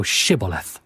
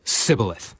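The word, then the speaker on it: Shibboleth: said they unto him say now shth and he said Sith for he could not frame to pronounce it right then they took him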